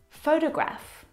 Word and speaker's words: photograph: So in the first example, photograph, the first syllable is the stressed syllable. You can hear it very clearly.